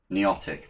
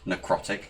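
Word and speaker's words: Niotic: Is it Neotic? Neotic, not necrotic. Necrotic is something completely different.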